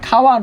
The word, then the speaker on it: খাওয়ান: আছে খাওয়ান হবে কি? খাওয়ানো।